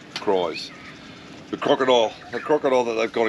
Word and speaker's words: Krys: So then we did the touristy thing, and we went up and checked out, I say Chris. I say Cries. The crocodile. It's spelt Krys. Yeah, Cries.